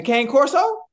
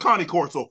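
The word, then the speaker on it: Cane Corso: it originate from the Kango the K the K Coro it's it's pronounced Connie Corso but okay go ahead take off I I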